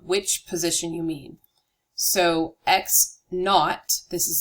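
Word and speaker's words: x₀: to talk about which position you mean so X naught this 0 here is pronounced not X naught is the initial position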